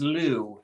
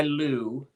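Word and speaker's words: Liù: And I'll tell you, the character is Lou. I think is spelled L-U-I. I think most people pronounce it Lou.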